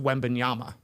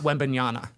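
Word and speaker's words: Wembanyama: Yeah, but they should tell Jim Gray his name is pronounced Webanyama, not Webinana.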